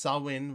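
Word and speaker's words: Samhain: seem he want to be old school celebrate Sam Hayne swin ma s that's pronounced sawin regardless of how it's spelled eat my ass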